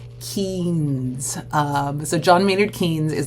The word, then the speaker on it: Keynes: And I know sometimes his last name can be hard to pronounce, but it's Keynes.